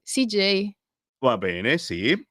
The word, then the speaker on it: CJ: nome su Instagram sicuro CJ scritto esattamente come l'ho pronunciato CJ cioè come come l'ha pronunciato quella J g e i CJ va bene Sì è